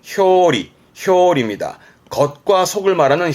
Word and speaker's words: 表裏: 표자 예 표지의 표 표이라함은 겉과 속을 의미에요 발음은 효리 효입니다 겉과 속을 말하는 효리 표리를함은 대표적인 부분으로는 뭐 표리가 있다라는 것은 사람의